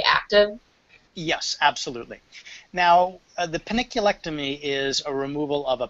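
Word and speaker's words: panniculectomy: How do you say paniculectomy? That's exactly how you said it.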